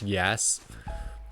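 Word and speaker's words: Yass: town in Australia called It's pronounced yes but it's spelled the same way that people write Yas online like y a SS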